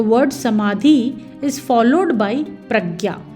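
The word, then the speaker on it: प्रज्ञा: samadhi is followed by pragya the word has two syllables pra which refers to thoroughly and gya which means to understand know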